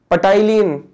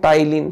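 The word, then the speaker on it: ptyalin: और salivary amylase को और क्या नाम दिया गया है, पटाइलिन, ना पी साइलेंट है, टाइलिन, ठीक है। पटाइलिन नहीं है वो, टाइलिन है, तो पी को साइलेंट करके बोलना।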